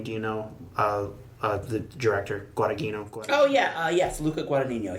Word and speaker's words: Guadagnino: Out of the three, how do you pronounce his name? Tony, do you know? The director, Guadagnino. Oh yeah. Yes, Luca Guadagnino. Yeah. Guadagnino.